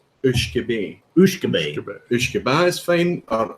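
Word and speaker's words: uisge beatha: I would pronounce it Whisky Vaults, but what's the actual pronunciation of that? In Scotch whiskey Gaelic, it's Ushkebe. Ushkebe is fine, or Ushkebea are all fine.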